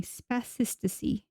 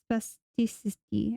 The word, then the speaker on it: spasticity: Spasticasy. Spasticity.